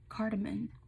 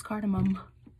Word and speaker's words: cardamom: and a dash of cardamon cardamom no it's cardamom okay I just had